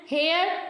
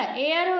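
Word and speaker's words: heir: करते हैं फिर है एन हेयर देखिए यहां पे लिखा हुआ है तो क्या हो जाएगा एयर हो जाएगा तो यहां पे भी एच हमारा साइलेंट है इसलिए यहां पे एन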